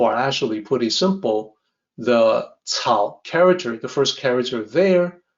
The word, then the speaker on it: 草木: It looks like it might be pronounced kelmu. That's not correct. In pinyin, the C is actually cao. So this is supposed to sound like 草木, and this is potentially